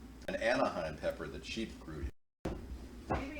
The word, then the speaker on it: Anaheim: Of course, Anaheim rhymes with Sponheim, so you know what I mean.